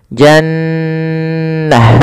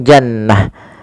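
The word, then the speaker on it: جنة: namakan dengan bacaan gunah cara membacanya adalah suara nunnya ditahan dulu nnya Jannah tidak langsung Jannah Kemudian pada lafal ta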